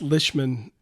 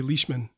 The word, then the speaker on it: Lishman: It's pronounced Lishman, but it's when you see it, you want to say Leishman.